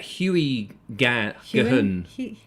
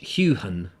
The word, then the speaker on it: Heughan: Huey Gahun. How? It's Heughan.